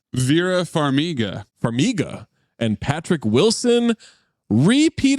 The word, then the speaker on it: Farmiga: is that how you say her name Vera Farmiga figa and Patrick Wilson repeat offender Liam niss